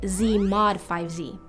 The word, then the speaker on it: Z/5Z: It's a quotient set, which we label Z/5Z, pronounced Z mod 5Z.